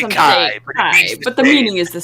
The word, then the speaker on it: chi: entirely yeah funny enough I always thought his name was like pronounced fee it does look like what it's pronounced and the the letter after looks like Chi but it's it's fi and Kai oh all right it